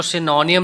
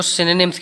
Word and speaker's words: synonyms: दे रहे होगे कि मैं इसको सिनोनियम नहीं बोल रहा हूँ, मैं इनको सिनोनिम्स कह रहा हूँ। तो इनकी प्रोनाउंसिएशन सिनोनियम नहीं होती है स्टूडेंट्स, इसकी प्रोनाउंसिएशन जो है वो होती है सिनोनिम्स। ब्रिटिश एक्सेंट हमारे इंडिया में फॉलो किया जाता है, तो उसके अकॉर्डिंग इसकी प्रोनाउंसिएशन सिनोनिम्स।